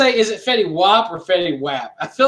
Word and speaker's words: Fetty Wap: Fetty Wap. But it's spelled WAP though.